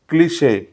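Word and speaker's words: cliché: word is सी एल आय सी एच याचा correct उच्चार आहे क्लिश क्लिश क्लिश नाही होत त्याचा करेक्ट उच्चार होतो क्लिश what is क्लिश over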